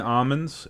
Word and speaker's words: almond: Some people pronounce the L in almonds, and they say, Some You're on people thin are ice, pal. douchebags, too. What? Ailment. I love eating almonds. It's Almond? You skip the L. It's almond.